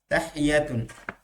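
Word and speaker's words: تحية: মনে রাখা যায় সামনে আচ্ছা শব্দটা উচ্চারণ হচ্ছে তাহিয়াতুন তাহিয়াতুন এখানে আপনি সূচনা বলতে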